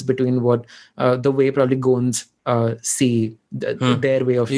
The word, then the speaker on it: Gond: So I think there are parallels between what the way probably Gonds see their way of you life. Call them Gonds. The actual pronunciation is Gond, not Gond. I think that's an anglicized way, but हाँ गोंद हिंदी